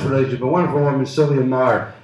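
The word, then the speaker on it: Meagher: a wonderful woman, Sylvia Maher, M-E-A-G-H-E-R, pronounced Maher, who lived alone, a single woman in Greenwich Village, working at the United Nations.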